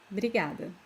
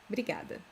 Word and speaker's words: obrigada: Very often we don't pronounce this O, as I was saying